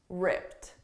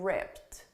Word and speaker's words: ripped: the past simple and one of them is a very soft T okay but very soft and that's what I'm using in ripped ripped but notice I'm